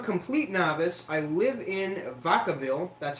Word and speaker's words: Vacaville: I live in Vacaville, that's how you pronounce it, California, Northern California.